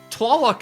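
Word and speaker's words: Tlaloc: some of them is because Tallaloc is two syllables and then Tanoitlon is a location that is in civilization.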